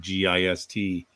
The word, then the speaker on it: gist: in anyway let me just say if you've wondered about that word g-i-s-t it actually is an english word and it really is pronounced just it isn't a technical